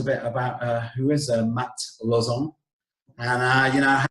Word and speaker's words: Lauzon: I usually pronounce it like the way I speak is I'm French, like I'm Canadian French. Okay. So we pronounce Lauzon. Lauzon.